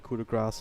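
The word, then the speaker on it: coup de grâce: careful too many na basta Napa accent instead coup de Grasse available now with the graph it's the best way to pronounce it I know that some people get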